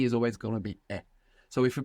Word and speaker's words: es: English speakers should beware that maybe they feel themselves pronouncing a Z, because many times we have an S in English, like in the word is, and we pronounce a Z. So you might find slipping out as, but this is incorrect. You should be careful to pronounce an S.